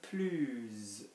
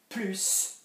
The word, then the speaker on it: plus: So it is this S being pronounced which really makes the difference between yes and more or no more.